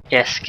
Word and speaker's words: ISK: Yeah, they're Frozen Corpse and Fast Card are telling me it's pronounced ISK as in the word.